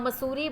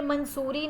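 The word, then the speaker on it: Mussoorie: वन day when Rakesh was सिक्स he walked home from the मसूरी बाज़ार eating cherries. अब यह मंसूरी नहीं होता। इसकी प्रोनाउंसिएशन क्या होती है? मसूरी।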